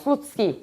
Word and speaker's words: Slutsky: So this is called the Slutsky equation. Apparently that's the correct pronunciation in Russian.